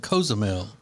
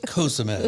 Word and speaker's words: Cozumel: And you should be pronouncing it Cozumel, Alexis, Cozumel. because you're Hispanic. Don't be telling me how. That's the way. Tell her, Rob. You should know better. It's Cozumel.